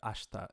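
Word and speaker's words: 明日: you think about it no one who actually says the word ashta is going to say ashita but in the song it fits the melody and so it's okay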